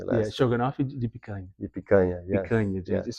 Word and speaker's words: picanha: You got to get the pronunciation to come from the nose to get the correct pronunciation on the word.